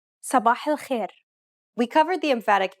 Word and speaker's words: صباح الخير: Did you pronounce these emphatic consonants correctly? Remember, to produce a dark consonant, build up pressure at the point of contact and constrict your throat. Listen to it again.